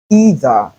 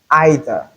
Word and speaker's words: either: Likewise, we can either say either or either. two are equally correct.